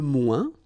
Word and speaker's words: moins: Okay, so le moins, remember when we combine this O-E-N together, we get the sound ouin, ouin, ouin, okay, and we don't pronounce this final S.